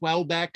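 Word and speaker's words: Houellebecq: the author of submission his name is pronounced welbeck i know it's a very funny looking french name even for even in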